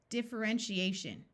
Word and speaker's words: differentiation: suffix shun differentiation differentiation did you remember the TI having the sh sound in a suffix here's another long word